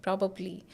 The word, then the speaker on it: probably: said or pronounced as probably but it is pronounced as proly propably propably so today I'll go to shopping today I'll go for shopping probably probably I'll go for shopping today when you're